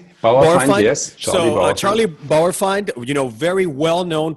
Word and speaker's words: Bauerfeind: Apparently, I don't know if I'm going to pronounce his last name correctly, but Charlie Bauerfeind? Bauerfeind, yes.